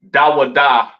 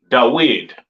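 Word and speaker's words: דוד: Mm, they don't call King David Dawadah correctly pronounced in the ancient Hebrew. They call him Dawid, all right?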